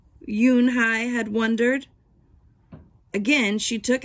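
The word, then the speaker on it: Unhei: you and i corrected it's spelled u-n-h-e-i it's pronounced yoon hai oh it's you hey the boy said like you hey what about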